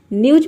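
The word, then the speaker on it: news: उसके बाद ई डब्ल्यू का हो जाएगा यू और एस का हो जाएगा यहाँ पे ज, ये हो जाएगा न्यूज।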